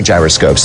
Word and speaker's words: gyroscope: since it's been anglicized a gyroscope is pronounced with a J even though the root word gyros is pronounced with a Y sound and that explains why